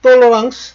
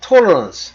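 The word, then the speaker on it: tolérance: 지금 돌랑스 돌랑스라는 건 프랑스 발음이고 어 영어로는 토런스 우리말로는 관용 그러니까 이놈 다 끌어들인 거예요.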